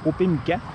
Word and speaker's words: Opémican: C'est comme ça qu'on dit, le parc Opémican.